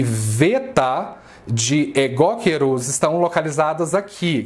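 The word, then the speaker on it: βήτα: magnitude nós chamamos de veta. A pronúncia em grego é veta, não é beta. Ok? É alfa, veta. Isso aqui tem som de V em português, tá? Não é som de B, é V.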